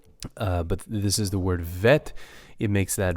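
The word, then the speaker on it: ב: case, because it's missing, it makes the PH or the F sound. Vet. Okay, so that's how you pronounce this word, vet.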